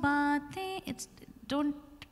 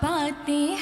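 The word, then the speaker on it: बातें: jo baatein, unless needed, don't use that extra nasal tone because it is not how it's pronounced. Dil ki jo baatein thein mein bindi hai. So that nasal thing has to come only in thein.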